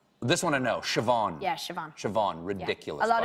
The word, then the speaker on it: Siobhan: how do you think that's pronounced this want to know shavon shavon shavon ridiculous a lot of people say